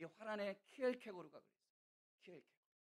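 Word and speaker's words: Kierkegaard: 키엘케고르. 어떤 사람은 키에카드 이렇게 발음하는데 키엘케고르가 그랬어요.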